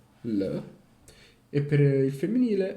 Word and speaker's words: les: Giusto, diceva, l'articolo singolare, determinativo, allora per il maschile è le, pronunciato l, e per il femminile è la, pronunciato la. E invece il plurale determinativo è per entrambi les, pronunciato le.